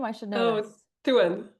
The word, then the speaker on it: Thouin: Thouin. Thouin.